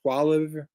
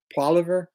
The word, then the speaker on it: Poilievre: Poilievre. Poilievre.